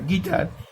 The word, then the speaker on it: guitar: আবার GUITAR, গিটার, এখানে your কোনো উচ্চারণ নেই।